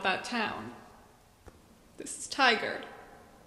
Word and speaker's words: Tigard: This name is subject to the frequent mispronunciation of Tigard, which I've always found kind of preposterous.